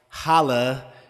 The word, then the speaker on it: hola: and then I'm like holla like no it's not what it is the H is silent in Spanish okay so why write